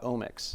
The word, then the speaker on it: Omics: I did want to talk about Omics.